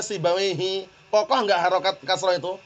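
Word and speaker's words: سيبويه: ada orang namanya sibawaihi sibawaihi ini enggak pernah dibaca sibawaiha enggak pernah dibaca sibawaihu pasti dibacanya sibawaihi kokoh enggak harakat kasrah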